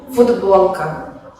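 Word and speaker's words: футболка: Esto pasa en el caso de la palabra futbolka, que se escribe con la consonante sorda t, que se pronuncia en el habla como d, ya que está seguida por una consonante sonora ba, futbolka.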